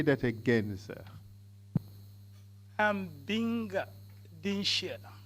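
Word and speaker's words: Dinshiya: I'm Binga Dinsha. Could you say that again, sir? I'm Binga Dinsha.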